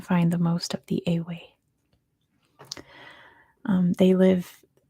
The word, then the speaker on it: Ewe: Looks like you, like a baby lamb, or a female sheep, but it's pronounced Awe.